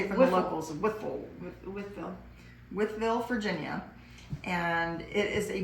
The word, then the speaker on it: Wytheville: Wytheville, Virginia.